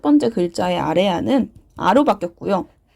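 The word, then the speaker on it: 아래아: 자, 아레아는 이렇게 점을 찍는 거고요. 얘 이름은 아레아. 자, 아레아입니다. 아레아는 당시 어떻게 읽었냐? 아와 오의 중간 발음이라고 말을 합니다. 그래서 아랑 오의 중간 발음이 아레아의 발음이었다.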